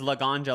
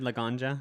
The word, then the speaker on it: Laganja: astronja i think because laganja like weed laganja i think it's like she's about weed or something oh because that's